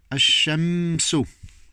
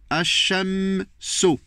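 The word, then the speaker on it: الشمس: Ash-shamsu, le soleil, ok, donc A, il n'y a rien, on saute direct, parce qu'il n'y a rien sur l'âme, donc on ne le prononce pas. C'est très important ce cours. A, on se met tout de suite, parce qu'il n'y a rien. H, il y aura shidda, un appui. Ash-shamsu. A, direct, vous passez aux troisième place.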